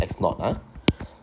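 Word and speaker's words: x₀: is basically 1.5 times of the original or x naught okay so x not here we pronounce this as x naught now x x1 can be replaced by 1.5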